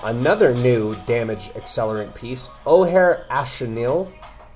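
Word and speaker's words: Ojer Axonil: new damage accelerant piece, O'Hare Astanil. I see a lot of people say this wrong. They say Ojer axanil. It's a O'Hare astanil. It is uh a South American word or South American pronunciation.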